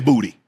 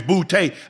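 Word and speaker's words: Boutte: It's bouty." I know that's how it looks like it should be pronounced, bouty.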